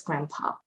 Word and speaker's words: grandpa: Again, we don't pronounce the D. We say it very, very quickly, you don't hear it, it's grandpa.